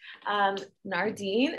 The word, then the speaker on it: Nardeen: Catching Claudia, we have a guest, Nardeen. Is that how you pronounce your name?